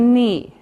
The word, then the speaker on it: knee: this is the thigh then we have the knee knee now remember for pronunciation we don't say the C we just